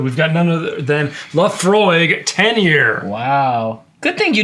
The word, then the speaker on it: Laphroaig: And in this episode, we've got none other than Laafroy Tenure. Wow. Good thing you didn't pronounce it like a California valley girl. How do they say it? La Frog.